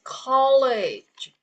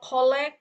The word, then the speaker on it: college: The word is college. It's not collect. Oke. It's college.